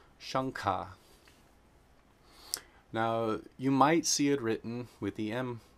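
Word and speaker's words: शङ्ख: rules of combination, and if anuswara is being combined with a guttural sound, it is always pronounced nga, the N with the dot over it. So that's shankha.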